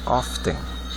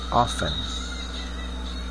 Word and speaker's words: often: Ó, o detalhe aqui, nesse advérbio, ele tem o T, mas a gente não pronuncia. Então a gente não diz often, a gente diz often.